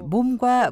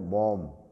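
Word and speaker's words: ᄆᆞᆷ: 말이라든가 뭐 발음이 아니고 입속에서 이제 둥글게 모아지는 소리를 해서 모자도 이제 아니고 몸 몸이 여기서 둥그렇게 굴리는 발음으로 해야 제주어 가수 양정원 씨입니다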